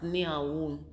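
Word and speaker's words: Nyhavn: this particular place in in denmark it's it's pronounced near woon and it's these pictures um uh houses if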